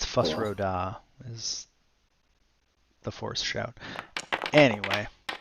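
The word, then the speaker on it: Fus Ro Dah: nerd card test so that's it yeah it's fus rhoda is the force shout anyway inside to check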